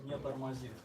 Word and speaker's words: не тормозит: How do you pronounce it? ClickHouse не тормозит.